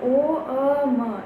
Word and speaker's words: ओम: ओम म का उच्चारण थोड़ा सा कम होगा, ओ अ ज़्यादा बोलेंगे हम और म थोड़ा कम। तो इस प्रकार से हम ओम का उच्चारण करते हैं, त्रिदेव को याद करते हैं।